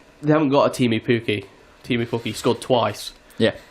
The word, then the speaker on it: Pukki: And their Timo Pukki, I did say his name correctly.